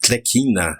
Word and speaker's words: Tlecina: Os italianos radicados em Jequié vieram principalmente de Tlecina, pronuncia-se Tlequina, na região da Basilicata.